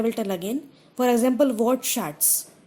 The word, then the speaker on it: Wortschatz: For example, Wortschatz has two syllables.